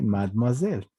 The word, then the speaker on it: mademoiselle: incluso, se les dice mademoiselle. Mademoiselle. Acá hemos dicho, ve, justamente la E se vuelve muda, no se dice mademoiselle, se dice mad.